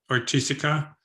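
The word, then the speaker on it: Oiticica: Another really interesting artist here, which you directly make an homage to, is Helio Ortizia. I always mispronounce his name. It's Ortizia.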